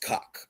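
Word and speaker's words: Kok: There was a speed skater with her last name was spelled K-O-K and pronounced cock.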